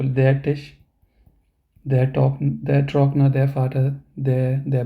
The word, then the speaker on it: Vater: So here we pronounce it as der Doktor, die Mutter, der Vater, der Bruder. So it may sound like we ignore the R part completely.